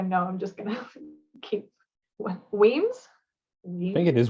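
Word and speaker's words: Wemyss: I don't want to say the word too much because I know I'm just gonna keep Weems. I think it is Weems, yeah.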